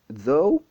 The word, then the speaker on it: though: Le même GH, dans le deuxième mot, though, est carrément ignoré. Dans le premier mot, tough, il est prononcé comme F. Et dans le deuxième mot, il est totalement ignoré.